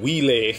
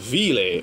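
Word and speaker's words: Wille: this group known as ville i don't like pronouncing wheeler because that sounds like willy and that sounds like a person's name but it's pronounced vile or like the german word for soul like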